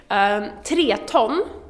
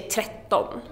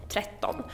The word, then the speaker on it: tretton: Tre ton, tretton, is three ton. But you kind of pronounce it differently, so instead of saying tre ton, you say tretton, tretton.